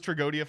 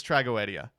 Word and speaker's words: Tragoedia: tell you right now I thought it was tragodia forever it's tragoedia hold up tragedia what no tragedia tragedia tragedia